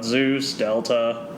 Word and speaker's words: ZeusFDelta: ZeusFDelta, but ZeusDelta.